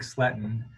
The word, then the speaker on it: Sletten: instance uh you know my name is sletten and it's spelled r-i-c-s-l-e-t-t-e-n and that defines me and if